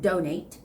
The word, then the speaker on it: donate: this word one is donate which is a verb donate donate the stress goes on the first syllable and another word is